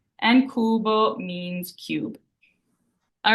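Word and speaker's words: cubo: so we have that c followed by a u which makes that hard C Sound and Kubo means Cube all right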